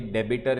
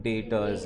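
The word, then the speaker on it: debtors: Point number 1, pronunciation clear होना चाहिए. डेबिटर नहीं है, डेप्टर नहीं है, डेटर्स है.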